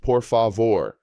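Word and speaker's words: por favor: Please is poor favor pronounced poor favore. The stress falls on the final syllable vore.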